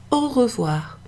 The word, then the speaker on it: au revoir: Oh wah Oh wah Oh wah Oh wah all of what of what so I guess